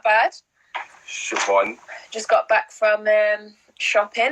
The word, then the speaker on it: Siobhan: I knew it was Siobhan, but before when I used to pronounce that name, I used to read off